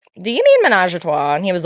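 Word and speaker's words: Ménage à Trois: We're drinking Menage a Trois Prosecco, or as my husband said, Menage de Trois, or whatever. He just pronounced it phonetically. So phonetically.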